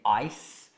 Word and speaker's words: ice: Break, rompere the ice, che è come il C, però è l'S serpente come pronuncia ice.